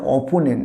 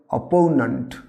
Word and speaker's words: opponent: না, এটা অপোনেন্ট নয়, উচ্চারণ হবে অপোনেন্ট, অপোনেন্ট। এবার বলতে পারি এই যে অ্যাজ a sentence, he has made his political অপোনেন্ট yesterday.